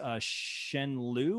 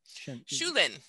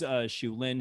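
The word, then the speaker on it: Shu Lien: Michelle Yeoh, who plays Shen Liu or Lu Shen. Shulin. Thank you. I wrote it phonetically. Thank you so much. Michelle Yeoh, who plays Shulin, who is the romantic interest to Li Mu-bai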